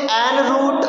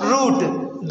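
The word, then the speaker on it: en route: बहुत सारे लोग इसे an root, on root पढ़ेंगे, but the actual pronunciation of the word is root.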